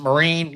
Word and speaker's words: Marine: teammate Maria Jose Marine is it Marine you pronounce it yep Maria wins the individual title So you guys are happy for her.